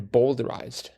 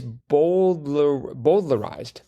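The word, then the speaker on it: bowdlerized: Every edition of the letters and diaries, of his letters and diaries, had been bolderized. And yeah, it's boldlerized. Yeah. I need to pronounce that L.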